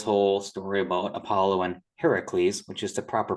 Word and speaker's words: Heracles: So I did this whole story about Apollo and Heracles, which is the proper pronunciation of his name, having to go rescue Poseidon from being captured.